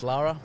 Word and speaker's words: Laura: She's spelt Laura, pronounced Lara.